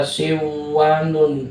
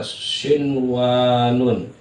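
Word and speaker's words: صنوان: tuh Sin W Nun Jangan dibaca siwanun salah atau Dunya salah karena ini satu satu kalimat tetap eh dibacanya adalah Idhar Sin Wun Sin Wun Sin Wun jangan siwaun salah walaupun di sini ada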